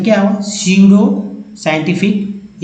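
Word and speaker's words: pseudo: अब ये देखिए स्यूडो, ये पी जो है साइलेंट है, याद रखिएगा ये पी जो है दोस्तों ये साइलेंट लेटर्स है, लेकिन बिना पी के तो होगा भी नहीं स्यूडो।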